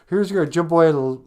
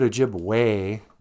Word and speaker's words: Ojibwe: I know you probably know this already, but in the word Ojibwe, it's spelled with an E. We don't spell Ojibwe. We don't call it Ojibwe. Ojibwe. So E's sound like A's.